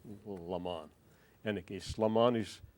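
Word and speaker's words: Lamon: a man named Layman, a number of ways to pronounce his name. And I looked into the family, and the family itself pronounces the name in different ways. I'll say Layman.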